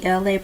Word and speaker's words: Elay: This is me, Elay, pronounced like LA, like the city.